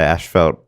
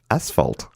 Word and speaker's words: asphalt: Australia and Canada is majority people say ash felt but we say it wrong there's no H in that spot its ads ass asphalt right right yeah we got